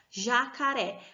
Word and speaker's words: jacaré: Olha só, jacaré. A sílaba tônica está no ré, que é a última sílaba da palavra, e por isso ela é uma palavra oxítona.